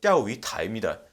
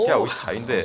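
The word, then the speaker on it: 钓鱼台: 이제 중국식으로 읽으면 띠아오이타입니다. 오. 띠아오이타인데 성조가 좋습니다. 발음이.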